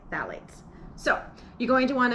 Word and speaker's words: phthalates: i checked and that is how you say phthalates so you're going to want to make sure